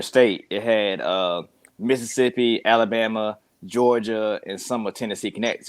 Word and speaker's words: Jawga: In my world, it's JAWGA. Pronounced Georgia, or if you read it out, Georgia.